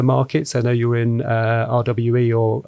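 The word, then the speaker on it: REWE: I know you're in RWE, or I think it's pronounced Reva in Germany.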